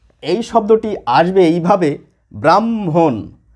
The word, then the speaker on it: ব্রাহ্মণ: লেখা নেই এটিও লেখা নেই প্রমিত বা মান্যচলিত উচ্চারণে এই শব্দটি আসবে এইভাবে ব্রাহ্মণ ব্রাহ্মণ ব্রাম দেখুন এখানেও ব্রাহ্ম এখানেও ব্রাহ্ম এখানেও ব্রাম